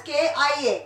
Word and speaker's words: chi: Then it is pronunciation as KIA, chi-square, and we will write it as CHI.